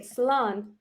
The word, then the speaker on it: slán: Goodbye, you say slán.